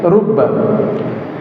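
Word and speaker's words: رُبَّ: Kata beliau, cara bacanya rubba adalah dengan bidam wa fathil bail musyaddadati. Didamar rnya dan di fathah ba yang ditasydid. Jangan dibalik. Kalau dibalik rab nama Tuhan.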